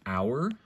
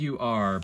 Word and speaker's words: Ur: The next one is the Enochian letter our. So it's spelled U-R, but it's pronounced our, like our, you know, our friends and our family, or, you know, our, now is the winter of our discontent, right?